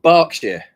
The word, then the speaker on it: Berkshire: I said that right Burkshire not Burkshire right well it's we actually pronounce it barkshire Boer okay okay okay